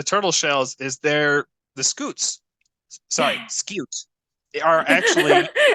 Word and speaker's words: scute: It is not scoot. It is scute. Cute. Scute. Yeah. It's cute and precious. I don't know. Yeah, I don't know why that made me laugh so hard, but yeah, the correct pronunciation is scute.